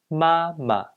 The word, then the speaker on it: 妈妈: 妈妈 Mom. The second ma in this word should be pronounced as neutral tone.